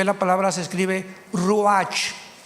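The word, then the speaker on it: ruach: Biblia la palabra espíritu que es la palabra se escribe ru r u a c h ru que es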